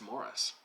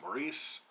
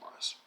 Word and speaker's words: Maurice: ian forrester and it's morris i know uh americans will want to pronounce that maurice but uh forrester was english and uh over in england it's pronounced mars i wanted to talk